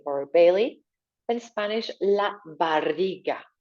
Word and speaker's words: barriga: In Spanish, la barriga. Try to roll your R. La barriga.